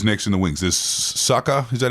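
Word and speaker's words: Sukkar: offs who is next in the wings there Sucka is that how you say it yeah Michael Su yeah yeah Suka he would be a rising kind of talent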